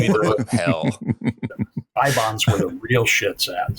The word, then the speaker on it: Eibon: That's a famous fictional book, and they pronounce it Ibon in the movie.